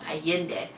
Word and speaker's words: Allende: I keep saying her last name wrong. Allende.